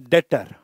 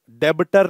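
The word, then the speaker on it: debtor: डेटर हो गए हो बी E silent डेटर डेबिटर नहीं डेटर डेटर वह बंदे होते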